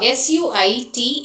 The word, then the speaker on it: suit: And uh s u i t, it has to be pronounced as suit.